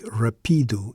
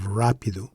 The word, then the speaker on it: rápido: Without it, P would likely take the stress, making it sound like rapido instead of rápido, which is incorrect.